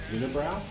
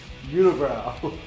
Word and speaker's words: Unibroue: Unibroue? Yeah, I'm pretty sure that's pronounced unibrow.